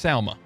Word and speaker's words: Salma: said he doesn't know Selma by name but then you saw the picture and say her name wrong it's Salma Selma Hayek believe it's with an a oh no yeah you're